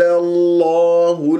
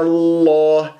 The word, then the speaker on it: الله: وفضل الله المجاهدين على القاعدين أجرا عظيما، وفضل مرت معنا.